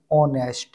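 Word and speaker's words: honest: यहां भी आपका एच साइलेंट रहेगा ऑनेस्ट में।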